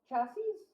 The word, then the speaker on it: chassis: Physical capabilities afforded by mechanical chases are around the same chassis? Might be cases. I'm gonna look it up to see how to pronounce it.